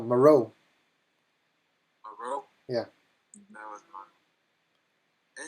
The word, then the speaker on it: Moreau: Monroe. Moreau. He was like the original director. Yeah. Did I say it right? No. No, Moreau.